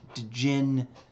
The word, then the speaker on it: djinn: A starts with a D, djinn, but you don't pronounce it.